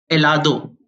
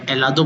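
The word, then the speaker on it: helado: बोलते हैं चिकन को एलादो आइसक्रीम को अपन स्पेनिश भाषा में एलादो बोलते हैं एच इसमें हमेशा स्पेनिश भाषा में साइन रहता है इसलिए अपन ऐ से स्टार्ट कर देंगे एला दो इग्लेसिया चर्च जिसे अपन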